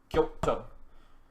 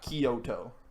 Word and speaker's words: Kyoto: but tokyo and kyoto it's not three syllables two kyoto not kyoto kyota kyoto kyo yeah like k-y-o is one sound kyoto is one is